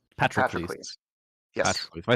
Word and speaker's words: Patroclus: I think Azzy and Patroclus have both not been asked a question yet.